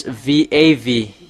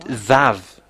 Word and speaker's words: vav: It's V AV. We can see here. I slide it. And that is how to pronounce it. Vav.